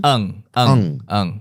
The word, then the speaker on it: Ng: And how do you say the last name? Ang. It's a Southeast Asian Malaysian last name.